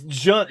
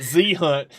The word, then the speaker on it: Junt: Yeah, as I called Junt Z-Hunt. Dude, I called him Z-Hunt so much that Zane had a hard time calling him Junt.